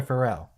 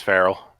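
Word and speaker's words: Farrell: or is it farell how do you pronounce her last name is it frell or farell I'm pretty sure it's frell ah imido is also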